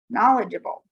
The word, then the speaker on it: knowledgeable: i'm going to add knowledgeable oftentimes we get rid of the silent e at the end before we add abl e however we need that e so that the g can say j knowledgeable all right now